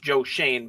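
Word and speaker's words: Joe Schoen: regime now with I still can't believe it's pronounced Joe Shane, but it is. So Joe Shane, a guy who doesn't mock analytics.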